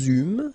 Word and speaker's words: eûmes: Then nous eûmes, so you can make this little link between the two. Final S not pronounced.